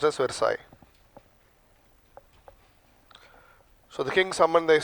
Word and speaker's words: Versailles: Written as Versailles, pronounced as Versailles.